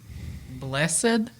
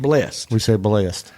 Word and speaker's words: blessed: But we say it like BLEST. Yes. Blessed. Blessed. But it's actually spelled blessed.